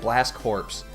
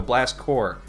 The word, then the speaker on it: Blast Corps: the title cuz I grew up calling it blast corpse and as most people know which I did not is that a corpse is pronounced core when there's an s on it